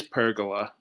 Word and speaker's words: pergola: pergola yeah like a kind of like a percolator yeah so that's kind of Aging me isn't it so what is pergola pergola is a um it's